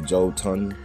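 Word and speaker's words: jötunn: So humanity and these Jotners, which is the Elves. What are a Jotun? As you see, it's pronounced two different ways, Jotun or Jotner.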